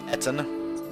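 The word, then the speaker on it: Ettin: How did Serenity pronounce it again? Etten.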